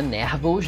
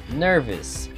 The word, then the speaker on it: nervous: E também tem o adjetivo nervous, que é nervoso. Presta atenção na pronúncia, não é nervous não, hein? Ó, nervous.